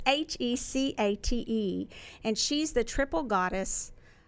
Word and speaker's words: Hecate: And so when I referred to, and I've been told how to pronounce this because it reminds me of Princess Bride, Hecate. Hecate or something like that. I always make fun of it, but it's Hecate, and she's the triple